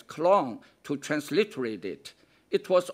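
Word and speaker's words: 江: They did as Romans did, and used the Chinese character Jiang, pronounced in early Chinese as Klong, to transliterate it.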